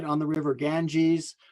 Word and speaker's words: Ganga: right on the river ganges ganga is how they pronounce the name of the river there the the excuse